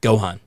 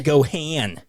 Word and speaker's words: Gohan: Jamie Chung stop it you mispronounced his name Gohan no you mispronounced it it's Gohan what is it it's Gohan what did they say Gohan they they said it wrong what did they say go hand go hand go hand go ahead solo Randall